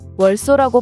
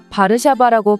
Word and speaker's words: 바르샤바: 왜냐하면 다른 나라들은 바르샤바의 영문식 발음인 월소라고 발음하지만 한국만 거의 유일하게 바르샤바라고 발음하기 때문이죠.